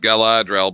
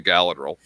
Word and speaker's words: Galadriel: And I know it's supposed to be pronounced Galadriel, but I don't speak Elvish, so I say Galadriel.